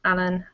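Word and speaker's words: Alain: And Alan, yeah, the second one was right. Yeah, it's spelled A-L-A-I-N, and that's how delayed you are.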